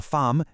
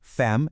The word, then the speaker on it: femme: First, pronunciation, "la femme", meaning woman or wife, is pronounced "fam", not "fem".